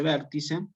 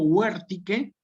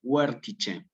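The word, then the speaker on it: vertice: Bueno, nunca se dice vértice, sino que yo tengo dos posibilidades aquí. O digo huértique, o digo huértice. Huértique es en latín clásico.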